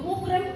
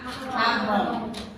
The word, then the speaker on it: mahram: Itu muhrim. Biasa jawabannya apa kamu? Bilangnya apa? Muhrim kan? Padahal sekarang bacanya apa? Mahram.